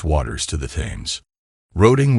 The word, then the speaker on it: Roding: Waters to the tames roding was sometimes pronounced rowing a name going back to Anglo times when the river was known as froda those early English speakers pronounced the letter d as th it's quite remarkable how